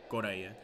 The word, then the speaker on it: Correa: And it's actually pronounced Correa, not Correa. Correa. Not like Korea, but it's funny because in the same way you pronounce the last name Correa, which is a very common Portuguese last name, is the same way we say Korea, which is Correa.